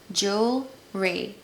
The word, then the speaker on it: jewelry: kind of confusing but I'm here to tell you that it's just two syllables jewelry Joel Ray I love jewelry especially